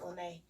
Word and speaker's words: Lena: spell like lena but it's pronounced lynae um have some events